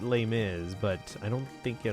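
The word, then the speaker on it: Les Mis: I mean, you pronounce it lay miz, but I don't think it always had I've never seen a a poster where it was just lay.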